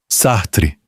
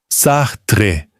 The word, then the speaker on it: Sartre: Sartre. Sartre, com o T audível.